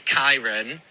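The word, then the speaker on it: Kyran: So, drag name is Kyron, like Ty, and my boy name is Kieran, but it's spelt the same way, so it can get confusing. But yeah, Kyron in drag, Kieran out. Kyron in drag, Kieran out of drag.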